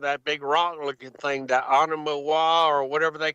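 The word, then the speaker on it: ʻOumuamua: And I'm not even talking about that big rock-looking thing, that Oumuamua or whatever they call that. Yeah, I got it right here. How you pronounce that, man? Oumuamua.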